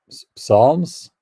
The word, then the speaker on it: psalms: have their songwriters writing i'll try to pronounce it correctly psalms p s promoting christianity okay and